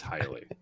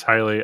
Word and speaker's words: Haile: And with me today, I've got a very special guest, Adam Haile. How are you? I'm doing good. Doing good. Did I pronounce the name right? You did, in fact. Okay. It is Haile.